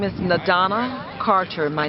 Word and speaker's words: N'Dana: yourself but your name and my name is nadana Carter my name is spelled in apostrophe d a n a the